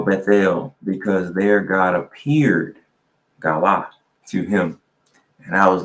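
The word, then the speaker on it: גלה: Let me make sure I'm pronouncing this word right. It is galah, right?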